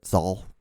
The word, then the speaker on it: sal: But sol. That's how you say it in Spanish. S-A-L. Sol.